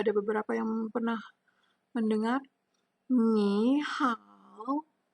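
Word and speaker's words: 你好: Ni hao. Bacanya seperti itu ya. Ni hao.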